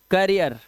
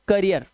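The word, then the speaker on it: career: पढ़ते हो कर रियर करियर ठीक है ठीक है ये क्या है करियर यह कैरियर नहीं है। कैरियर नहीं है। इसे कैरियर नहीं पढ़ते। गलत लिखा है। यह इसे पढ़ते हैं करियर।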